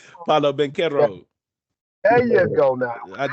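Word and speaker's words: Paolo Banchero: Bernero, Palalo, can't pronounce his name. Paulo Banchero.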